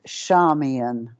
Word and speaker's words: Charmian: our tonight's guest is Charmin uh Charmin is it pronounced like an S Charming yes it's shamian Charmaine she is